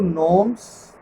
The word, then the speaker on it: gnomes: These are sylphs, number one, number two, gnomes, GNOMES, G is silent here.